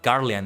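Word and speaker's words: Garlean: The Garian Empire or Garian is how you say it.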